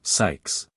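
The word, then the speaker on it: Zzyx: a name like that it's pronounced something like Sykes like the name of Bill likes in Dickens Oliver Twist all this doesn't matter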